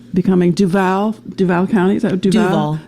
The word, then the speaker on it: Duval: It's us Northerners, right? We don't know how to say these Floridian county names. Sounded very French. Duval.